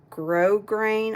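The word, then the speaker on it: grosgrain: it's called Uh frayed grow grain I think the S is silent and you can tell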